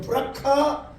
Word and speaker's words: 브라가: 그래서 거기서 승진했던 골짜기의 이름을 역대하 20장 26절에 보니까 브라가 골짜기라. 브라가 골짜기. 조금 더 발음을 제대로 하면 브라카 골짜기를 이루었다고 하는 것입니다.